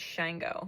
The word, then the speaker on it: Shango: I S H A and it's Shango, like mango but with sh on the at the front. You might want to really tune into them. Archangel Uriel and the Orisha Shango and dive into those archetypes, right?